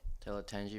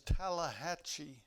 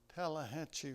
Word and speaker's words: Tallahatchie: Tallahatchie River. No, the correct pronunciation is Tallahatchie. Tallahatchie River.